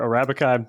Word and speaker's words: Arabica: guys focus on the what's called Arabica or Arabica. I'm not exactly sure if I'm saying that right, but is that correct? Yeah, they're both fine pronunciations.